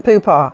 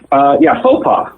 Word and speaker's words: faux pas: Are you, are you attempting to say faux pas? Because it sounds like you're saying poo-pas. Yeah, faux pas. I thought you had some unusual and unique derivative, but it's just a mispronounce.